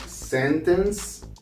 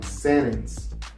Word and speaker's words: sentence: When you see a word with the letter N, T, the letter T is not going to be pronounced.